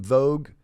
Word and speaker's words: Vough: First name, last name Vogue, pronounced like the magazine, but not spelled the same exact way.